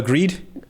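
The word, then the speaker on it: Grede: Um, I love Emma Grande. I I love her, you know. I'm just seeing Is that Who was that? Emma Greed. Greed. Oh god, I said it wrong, man.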